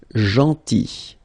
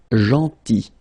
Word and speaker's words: gentil: Then gentil, so remember this final L is not pronounced, gentil, gentil, and it's nice or kind.